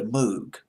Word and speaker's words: Moog: You remember the Moog? I think it's how you pronounce it, the Moog or the Moog, M-O-O-G.